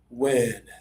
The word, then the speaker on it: win: It has a single I, and that usually means lower tongue, more air. Let me show the folks on social media. Check out my mouth while I do this. I open a little extra, breathe more. Win. Win. JR, sounding really good. Win. Win. Not wean, win. Win. Add extra air to say this one right.